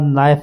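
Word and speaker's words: knife: उसके बाद नाइफ है के एन आई एफ ई नाइफ लिखने में के आएगा लेकिन पढ़ने में हम इसको खा जाएंगे। यानी कि यह साइलेंट ही रहेगा।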